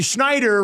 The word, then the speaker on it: Schneider: Well, you see Schneider rhymes with rider and then I thought I'll put in the clip of him saying, "YOU CAN DO IT."